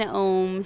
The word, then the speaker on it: Om: Now together one Om. So it really Om is Ah, O, all put together in one syllable.